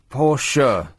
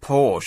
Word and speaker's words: Porsche: of cars by the way about um Porsche pors sure get very uh aggravated when you don't pronounce it in the uh in the correct